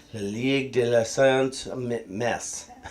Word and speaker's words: Messe: French accent, as La Ligue de la Sainte Messe. M-E-S-S-E, how do you pronounce that? La Messa.